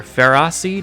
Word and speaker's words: Ferroseed: And so, these ones are Ferroseed and Ferrothorn, which sounds like ferocious and seed and ferocious and thorn.